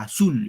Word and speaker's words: azul: aguda última sílaba a azul Es una palabra aguda y la regla que